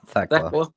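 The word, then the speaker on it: Thekla: Yeah, Theckla.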